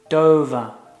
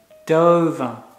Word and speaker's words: Dover: It's pronounced Dover. Dover.